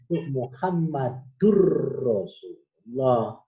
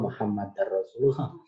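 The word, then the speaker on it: محمد رسول الله: Misalnya pengucapan la ilaha illallah Muhammadur Rasulullah. Bukan la ilaha illallah Muhammadar Rasulullah.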